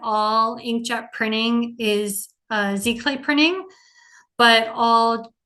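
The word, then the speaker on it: giclée: FR fancy French um spelled g clay but pronounced Z clay um this is used to produce pieces of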